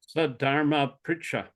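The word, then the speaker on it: sad-dharma-pṛcchā: Sadharma Pricha. Krishna. Okay. Pricha. R with a dot under it is Ari. It's like Ari, Krishna.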